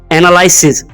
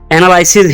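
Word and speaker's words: analysis: जाती है वो है एनालिसिस। बहुत से लोग इसको एनालिसिस ही पढ़ते हैं, लेकिन इसकी करेक्ट प्रोनाउंसिएशन है एनालिसिस। एनालिसिस, एनालिसिस नहीं, एनालिसिस।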